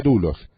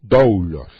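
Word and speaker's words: δοῦλος: Se pronuncia doulos, pero es doulos.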